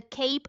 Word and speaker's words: CAPE: It’s called the CAPE ratio. Say it like a superhero’s cape.